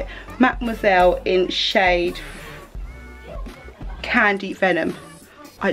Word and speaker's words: Mademoiselle: Mademoiselle in shade Candy Venom.